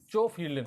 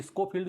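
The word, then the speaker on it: Schofield: ये दिया था आपका चोफील्ड ने। अब बड़ी समस्या है इसको प्रोनाउंस करना क्योंकि इसमें जो एस है वो साइलेंट है, तो चोफील्ड, कोई स्कोफील्ड जैसा बोलना चाहो वैसा बोल दो।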